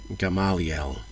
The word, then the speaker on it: Gamaliel: the most famous teachers, and I can never pronounce his name correctly, Gamaliel.